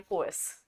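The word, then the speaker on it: coerce: next word आहे कोस आता हा क्च्युली आपण वाचताना कोर्स असा वाचू प्रोनन्सिएशन आहे कोस ठीक आहे आर जो आहे तो सायलेंट आहे सो कोस म्हणजे काय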